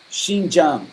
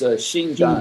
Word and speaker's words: Xinjiang: Xinjiang. It's Xinjiang. Xinjiang. I won't spell it for you, but Xinjiang.